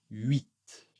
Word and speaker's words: huit: Encore une fois, un peu spécial, le T va être prononcé, mais le H le H surtout en début de vocabulaire n'est pas très souvent prononcé. Ici, nous aurons huit.